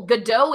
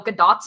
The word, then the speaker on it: Gadot: common for pronouncing Gail Gadot's name. She actually said, the only reason I know is because she said it in an interview, because she's Israeli. It's not Godot like French. It's Gadot.